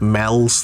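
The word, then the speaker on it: Meols: So, some some weird weird place names like uh near me there's a place called Mels that's spelled Meows.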